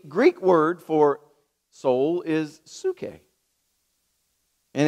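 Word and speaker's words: ψυχή: and so the Greek word for soul is sookay and it's spelled really pee-yew excuse me PS you see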